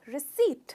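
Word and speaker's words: receipt: कहते हैं रिसीव रिसीव इसे जनरली लोग इसमें पौर का भी साउंड लेते हैं जो गलत है इसमें पीस साइलेंट है तो हमें पौन इंच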